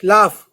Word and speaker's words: laugh: लाफ को LAUGH, जब भी GH आता है इंग्लिश में एंड में, इनफ, लाफ, तो उसकी जो स्पेलिंग होती है, या तो उसकी जो प्रोनाउंसिएशन होती है, या तो फ हो जाती है या कुछ नहीं होती।